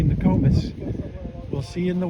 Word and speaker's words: Nokomis: So that's it for today's update on Nokomis Beach, or as the locals say, Nokomis.